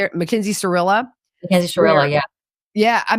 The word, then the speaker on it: Shirilla: Mackenzie Shirilla?